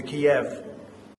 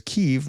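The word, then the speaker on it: Kyiv: And all of a sudden, missiles are flying into Kiev. Into Kiev. Now that's weird, man. Like, why wouldn't you pronounce it as Kiev, which is what the Ukrainians do, as opposed to the way that the Russians call it?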